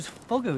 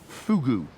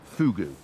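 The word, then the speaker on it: Fogou: it is no no Fugu I know it's it's spelled f o g u but it's pronounced Fugu oh really it's it's all to do with the pursing of the lips they tell me and is this a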